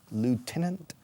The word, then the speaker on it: lieutenant: He was a lieutenant colonel. Los británicos dirían lieutenant, aunque se escribe lieu como lugar en francés, lugarteniente, but teniente coronel.